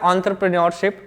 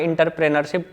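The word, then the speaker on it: entrepreneurship: एंटरप्रेन्योरशिप सही pronunciation होता है एंटरप्रेन्योरशिप, लेकिन आप लोग आम बोलचाल की भाषा में इंटरप्रेनरशिप बोलते होंगे। तो ये 4 चीजें होती है फैक्टर्स ऑफ प्रोडक्शन।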